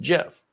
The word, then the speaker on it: GIF: The guy who created it says it's pronounced Jeff.